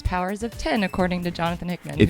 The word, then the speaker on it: Powers of X: Yeah, because it's House of X, it's Powers of 10, according to Jonathan Hickman. If you think we're lying, Jonathan Hickman said that officially it's Powers of 10. Yeah. So we should all be saying it correctly, I think, now.